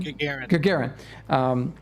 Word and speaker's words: Gagarin: And everybody, yesterday was the 60th anniversary of Yuri, what, how do you say his last name? Gagarin.